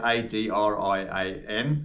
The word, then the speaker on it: Adrian: out to the individual, I say Adrian, and when they say it back to me, it's Idran. So the A's and the I's are completely different to how the Americans say it.